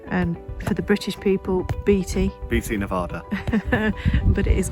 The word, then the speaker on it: Beatty: by the Nevada and for the British people Beatty BT Nevada but it is pronounced baby um and there's Burrows donkeys that roam the